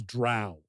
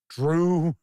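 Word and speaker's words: drow: it for 40 years that is how I've always known it to be said was drought I've never heard anybody say Drew Drew anything like that in fact isn't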